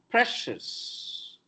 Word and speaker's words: precious: Another problem, precious, no, precious, sha, region, religion, not religion, religion, ocean, no, ocean, Another problem, leisure, no, leisure, ja.